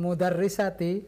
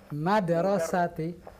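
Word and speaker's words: مدرسةِ: Iya, bukan mudarrisati, tapi madrasati.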